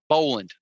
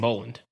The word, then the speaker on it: Boland: things stay the same uh ah God uh Bowland uh Jason Boland Jason bowan yeah right uh right first name wrong last name from me but yeah yeah